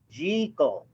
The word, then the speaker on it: Jekyll: So, but Jekyll and Hyde, or I should pronounce it properly, Jekyll. Oh. That's how they pronounce it in the movie, and I should learn to pronounce it properly, Dr. Jekyll.